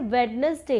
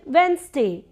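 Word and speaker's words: Wednesday: लोग बोलते हैं वेडनेसडे, इट्स वेंसडे, वेंसडे।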